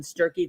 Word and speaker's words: Sturkey: We love Sturkey that rhymes with turkey.